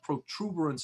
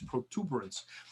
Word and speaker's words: protuberance: And then we also have the external occipital protuberance. Protuberance, I'm always saying it wrong. I actually wrote it wrong for a long time. Not protuberance, is protuberance. And that's the, if you